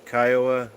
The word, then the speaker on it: Kiowa: or three Kiowa Kawa Kiwa which is right because I don't want to um pronounce it wrong well I don't know if I'm first time you said it was correct Kiowa all right but uh